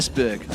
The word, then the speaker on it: Esbjerg: Esbjerg. There you go, Esbjerg, yeah. It was actually one you went to. Pronounce it? I said Esbjerg.